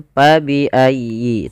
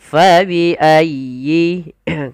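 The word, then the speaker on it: فَبِأَيِّ: menggantinya dengan huruf Pa jangan pa biayi tapi Fa dialirkan nafasnya karena huruf Fa memiliki Salah satu sifat yaitu sifat hamus artinya mengalir Nya Nafas kita maka Fa faiayyi kemudian dilfal huruf ya ya bertasdid itu ada lembut di dalam pelafalnya tekan ayyi faiayyi dan sempurnakan kasrah pada huruf ynya jangan Fa tidak disempurnakan kasrahnya kita harus menyempurnakan daripada bunyi kasrahnya fabiayi FA pada lafal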